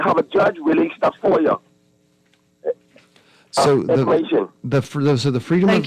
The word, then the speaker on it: FOIA: We pronounce FOI FOIA.